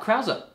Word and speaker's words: Krause: I looked it up, Krause. Oh. Yeah, check out Wikipedia. I looked up the pronunciation.